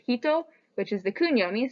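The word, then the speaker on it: 人: this example we have the kanji for person which is pronounced hito which is the kun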